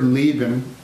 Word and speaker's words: Leben: That word Leben is a very hard one to sing because it starts with an L. And if you have an American, you know, Americans say L in the back, and Germans say L in the front. Lie, right up here, Leben. If you have an E vowel after it, so Leben, right? Leben.